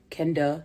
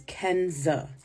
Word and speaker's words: Kenza: letters five two syllables I've been called Everything But my name over the course of 35 years Kenda Kendra Kenya K Quanza Zena my name is Kenza these long 15 letter